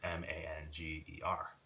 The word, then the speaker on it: manger: It's M-A-N-G-E-R. And the E-R, it's like manger. They don't even pronounce the last two.